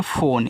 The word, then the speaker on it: phone: यह आपका एक इंग्लिश वर्ड है फ़ोन। ठीक है, तो देखो PH आपका फा बनाएगा, ओ से ओ की मात्रा फो, यन से आपका ना फ़ोन, इसका उच्चारण लास्ट वाले ई का हम नहीं करते हैं, तो ये आपका फ़ोन है।